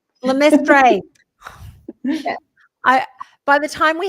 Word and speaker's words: LeMaistre: Did I pronounce it correctly this time? LeMaistre. LeMaistre.